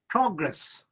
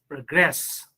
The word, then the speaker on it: progress: example you see progress when you use this word in a sentence you have to give stress on the first syllable if it is used as a noun so but if the same word is used as verb it is progress you have to progress a lot in your